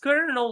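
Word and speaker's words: colonel: Uh the fourth word is kernel. It's pronounced kernel which is very pecular, very very strange word actually to pronounce in English because it's written in a completely different way.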